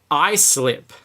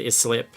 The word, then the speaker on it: Islip: how to pronounce that I would have said his slip right cuz let's pronounce like Island islip don't blame us though it's named after town in England so yeah they'll do